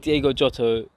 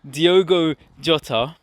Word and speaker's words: Diogo Jota: ask you guys that diego jotto keeps saying his name wrong diogo jota that first attempt that